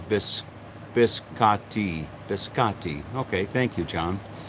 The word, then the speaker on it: biscotti: The correct pronunciation is biscotti.